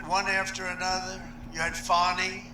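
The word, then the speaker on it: Fani: after another you had fonnie f a n i which is usually pronounced Fanny she added a little action to it fny that was a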